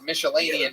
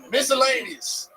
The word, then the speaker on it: miscellaneous: Nah, I get a lot of like miscellaneous shit though, like Hawaiian. Yeah. Miscellaneous. I'm saying that right? Now you are. Yeah. I'm saying it right. You Nigga, mixed it. You said Michelinian twice. Miscellaneous.